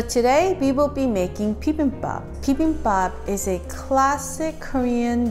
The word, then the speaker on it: bibimbap: So it's B like the bug, bim like a bimbo, bop like bob, but minus the P. So it's bibimbap, bibimbap, pretty simple.